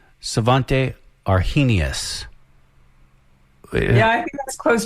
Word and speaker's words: Svante Arrhenius: It is, and I'm probably saying the name wrong, Svante Arrhenius.